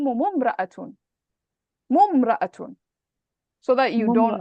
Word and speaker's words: امرأة: Now this type of hamza, this hamza, you only pronounce it at the beginning of a sentence. But if you're joining, you don't pronounce it. You don't say it, you don't mention it. So how would you join تحكمهم and امرأة? You would put a dhamma. So you'd say تحكم ممرأة.